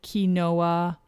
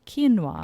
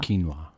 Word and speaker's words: quinoa: people have trouble pronouncing it they might say ki noah but it is pronounced quinoa quinoa it's spelled q-u-i-n-o-a yeah and it's spelled quinoa